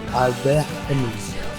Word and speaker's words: Albert Camus: Bueno, así se pronuncia, Albert Camus.